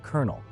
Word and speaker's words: colonel: so weird it decided French colonel should be pronounced colonel.